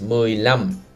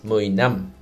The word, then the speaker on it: mười lăm: Careful. 15 is mười lăm, not mười năm.